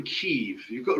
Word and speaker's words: Kyiv: Oh yeah, he's not from Kiev. He's from Kyiv.